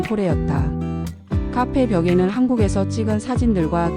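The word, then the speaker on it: Kore: 카페 이름은 한국의 터키식 발음인 코레였다.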